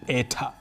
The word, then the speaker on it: eta: We pronounce this as eta.